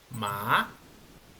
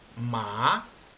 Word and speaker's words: má: Bueno este párrafo dice el segundo tono es un sonido ascendente comienza en un tono normal pero aumenta su gravedad y termina más alto a como comenzó Qué quiere decir esto